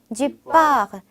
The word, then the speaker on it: du porc: 다시 한번 du porc. 자, 딱 봐도 영어에 약간 포크랑 비슷하죠. 그래서 그거 생각하시면서 프랑스어로 돼지고기는 du porc라고 합니다. 뒤에 이 영어의 C 발음은 안 하시는 거예요. 그래서 뻐라고 하시면 됩니다.